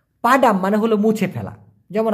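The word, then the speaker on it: padang: যায় এমন বলতে গেলে পাডান কথাটি বলতে পারে আরেকটা আছে পাডাং পি এ ডি এ এন জি উচ্চারণটা হবে পা ডাং এই পাডাং মানে কিন্তু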